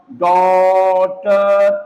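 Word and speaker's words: daughter: तो जब किसी वर्ड का स्पेलिंग आपको क्या दिखाई दे, AUGH, AUGH दिखाई दे, तो वहां पर AUGH को हम पढ़ेंगे ओ, AUGH, ओ, है ना।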